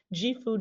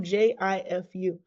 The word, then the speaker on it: Gifu: It's pronounced Gifu, Jifu.